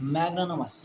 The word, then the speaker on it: magnanimous: मैग्नानमस, ये भी वर्ड बहुत इंपॉर्टेंट है, स्पेलिंग बोल देते हैं, MAGNANIMOUS, मैग्नानिमस, MAGNANIMOUS, मैग्नानिमस मतलब होता है काइंड, जेनरस एंड फॉरगिविंग।